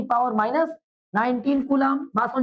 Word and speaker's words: Coulomb: Spelling COULOMB, कूलॉम।